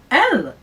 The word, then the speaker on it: elles: Now, elle, let's talk about elle as well. Elle is pronounced exactly the same as the singular that we did before, but we once again add an S.